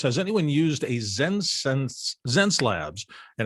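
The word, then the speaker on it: Xencelabs: from huntersville says has anyone used a zen zen slabs and it's spelled x-e-n-c-e-l-a-b-s pen tablet it's an interesting looking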